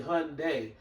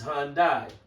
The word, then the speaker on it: Hyundai: That's the correct pronunciation of how to say Hyundai. Some people say Hyundai, but the correct pronunciation is Hyundai.